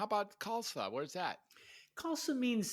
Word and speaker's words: Khalsa: have you so Zale how do you pronounce your last name kalsa like salsa like salsa okay but it starts with KH right yeah the H is silent and of course the